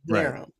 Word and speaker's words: haram: Cuz herm is spelled haram is spelled h a r n. So you mean haram.